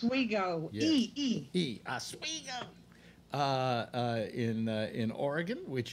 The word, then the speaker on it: Oswego: Is that how it's pronounced? Oswego.